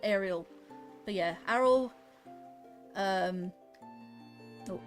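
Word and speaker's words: Aryll: Yeah, Arrol. I think that's how you pronounce him. I used to know I used to pronounce it Ariel.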